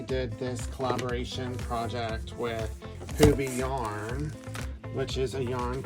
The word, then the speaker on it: Hobbii: And so this is a box of her yarn with Hubie, spelled H-O-B-B-I-I, pronounced Hubie.